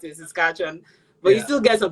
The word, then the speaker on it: Saskatchewan: I'm in Regina, Saskatchewan. Regina, Saskatchewan. Thank you for taking the time. Doi, I hope I pronounced it right.